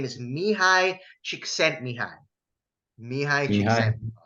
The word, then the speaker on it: Csikszentmihalyi: Now, the flow state was actually coined by a Hungarian American psychologist back in the 1970s, and his name is Mihai Csikszentmihalyi. Mihai Mihai. Csikszentmihalyi.